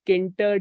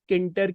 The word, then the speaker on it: tkinter: uh GUI in Canter you may call it as kinter k-i-n-t-e-r or some may